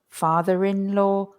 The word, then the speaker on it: father-in-law: The R starts to be pronounced again. Mother-in-law, father-in-law, daughter-in-law.